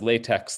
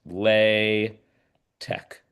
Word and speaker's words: LaTeX: And so this is pronounced it's not pronounced latex like the rubber. It's pronounced le tech. That's how you pronounce it for whatever reason. The x here is pronounced like a k.